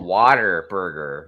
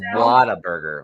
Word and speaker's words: Whataburger: Well, see, I thought it was called Water Burger when I first saw it. And my uncle was like, no, it's Whataburger.